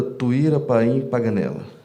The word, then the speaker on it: Tuíra Paim Paganella: Pública que nos assiste, doutora Tuíra Paim Paganella. A pronúncia é isso mesmo, né? Isso mesmo, doutor.